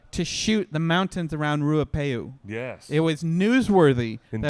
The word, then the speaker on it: Ruapehu: will drag Raya pay that is a word you need to learn how to pronounce because it is a holy site it's a holy location how you say it it is a sacred mountain just say it Ruapehu ruapehu this is when they